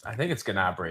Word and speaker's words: Gnabry: Is the G silent? Gnabry? I've heard it both ways. I think it's Gnabry.